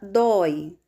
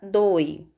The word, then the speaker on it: dói: com o fechado ou na palavra dói Nós também temos o ditongo aberto Oi por essa razão nós devemos colocar o acento agudo Oi se não tivéssemos esse acento agudo a pronúncia ficaria doe como na palavra boi então palavras que apresentam